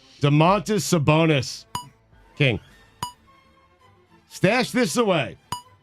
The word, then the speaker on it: Domantas: Is it Domantas or Domantis? Domantis would be an incredible nickname for him. You're right. Domantas Sabonis king.